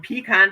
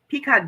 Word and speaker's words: pecan: Pecan. Do you guys say pecan or do you say pecan? Pecan or pecan? I say pecan.